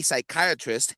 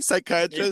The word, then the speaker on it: psychiatrist: Why can't you hear a psychiatrist use the bathroom? Why? Because the P is silent. Oh my god. Get it? The P, psychiatrist.